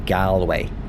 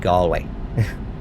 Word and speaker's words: Galway: Americans that visit Ireland, but it's it's not pronounced Gway. It's pronounced Gway.